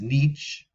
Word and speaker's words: niche: I think the European pronunciation is niche, or it can also be said as a niche. But in America, I think we say the niche.